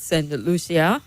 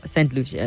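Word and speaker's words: Saint Lucia: Our president was at St. Lucia. That's how it's pronounced, right?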